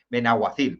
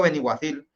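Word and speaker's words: Benaguasil: en el chalet de Benahuacil. Perdona, siempre lo digo Beniguacil. Me disculpáis los valencianos por pronunciarlo mal, me perdonáis.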